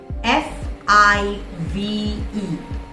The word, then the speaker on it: five: F-I-V-E. Five. Five. Five. It's 5 o'clock. V sound. So you need to pronounce it correctly, not 5.